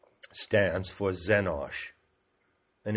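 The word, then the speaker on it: xenos: so X stands for zenos and it's spelled x c n o s so the letter X is pronounced as a z it is of course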